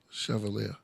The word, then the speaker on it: Chevalier: oh Shiva Leah yeah Chevalier chier you pronounce it CH like that Chevalier Chev yeah chaval so